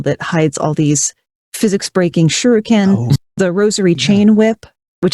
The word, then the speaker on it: shuriken: The weapons were very clever and the auto aim, how do you say shuriken?